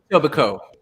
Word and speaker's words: Etobicoke: You don't pronounce the K at the end. You leave that silent. Etobicoke.